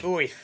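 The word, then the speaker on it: Oerth: Somebody said that Gary Gygax's original pronunciation of that word is Oith. He says it's just like Orth.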